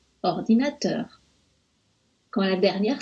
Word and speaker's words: ordinateur: On accentue un peu teur, ordinateur.